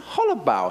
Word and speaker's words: Hollobaugh: And we also have Hollobaugh. He's going to tell me if I've pronounced it correctly, VP of Marketing Communication at Hostway. Did I get it right now? Very close.